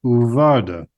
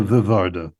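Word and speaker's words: וּוַרְדָּה: Remember I said the bait and the pei are going to get changed to their softer form in a context like that. Okay, let's take two names here. There's a girl named Varda, comes from the word vered, rose, and Rina. So I can say here, Varda, Verina, or I flip them around, Rina Uvarda, as opposed to Rina Vivarda. Okay?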